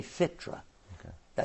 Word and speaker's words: fitra: They say fitra. Okay. Did I say it right? Yes, fitra.